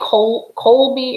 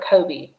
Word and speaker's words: Colby: good colby jack cheese do you think colby or kobe i pronounce it colby c-o-l-b-y colby jack cheese oh